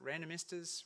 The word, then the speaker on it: Randomistas: it's no coincidence that random esters rhymes with sand and esters and as a famous